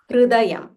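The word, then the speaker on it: हृदयम्: Not Hru, not Hrudayam, Hrudayam. Hrudayam, Punyam, Sarva Shatru.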